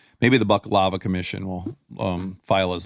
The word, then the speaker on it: baklava: But buck lava, it sounds like um uh lava coming out of a a male deer.